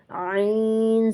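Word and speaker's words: عين: If you don't clear it, it will sound like Hamza, so it has to be pronounced in the throat Ain Zabar, Aa Jaal Zabar, La Jaal, Waqf Jaal, Jam Zabar, Ja Meem Zabar.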